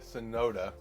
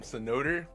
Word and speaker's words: Sonoda: So there's one guy called Yuki Sonoda, but they can't pronounce his name right sometimes, so they call him Sonoder.